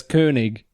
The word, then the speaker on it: Koenig: First question, because I always pronounce your name as Koenig. Koenig. Koenig, right? Because to me, it's a German name. But everybody else pronounces it Koenig. So how do you pronounce it? Oh, so yeah, the way you say it's correct.